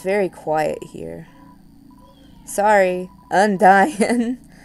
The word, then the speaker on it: Undyne: So, on my last part, I ran away from Undine a whole bunch, which, by the way, I saw on the Undertale Tumblr that her name is supposed to be pronounced like Undyne.